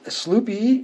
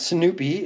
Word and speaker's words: Sloopy: we're going backways and it is Sloopy not Snoopy as I pronounced it one time hang on Snoopy